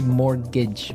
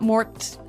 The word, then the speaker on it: mortgage: mortgage with a t yeah it has a t in it but you don't pronounce it you say morgage morgage so not Mort mortgage not mortgage morgage